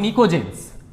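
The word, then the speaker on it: pnictogen: 15 কে আমরা বলি নিকোজেনস নাইট্রোজেন family কে বলি নিকোজেন পিটা এখানে সাইলেন্ট থাকে অক্সিজেন ফ্যামিলি কে বলি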